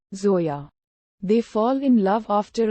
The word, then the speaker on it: Zoya: by his charm including his inability to properly pronounce her name calling her Joya instead of the proper Zoya they fall in love